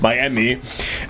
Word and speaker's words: Miami: Okay, for his dream, he goes to Miami Beach, which is spelled my, as in like M-Y, and then Emmy, which is a Korean baby term for mom, like mommy, Miami Beach, and he's there on Miami